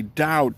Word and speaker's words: doubt: to speak doubt fine when he should say doubt, debt when he should pronounce debt, D-E-B-T and not D-E-T.